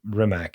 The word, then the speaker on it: Rimac: Rimac or whatever they say. Rimac. Yeah. You have to like have like a little bit of spit in your throat for it.